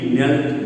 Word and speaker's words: knelt: ಇಲ್ಲಿ ನಾವು ನೀಲ್, ನೆಲ್ಟ್, ನೆಲ್ಟ್, ಕೆ ಉಚ್ಚಾರ ಆಗೋದಿಲ್ಲ, ಕೆ ಇಸ್ ಸೈಲೆಂಟ್ ಹಿಯರ್.